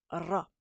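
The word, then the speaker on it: ر: la prononcer parce que c'est vraiment un r roulé on le retrouve en anglais en espagnol how are you are on va vraiment le chercher c'est RA RA on fait vraiment vibrer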